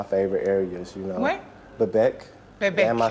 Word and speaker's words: Bebek: Bebek.